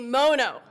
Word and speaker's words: Mono: work in this building aren't sure how you pronounce our county's name. So it is, say it with me, Mono.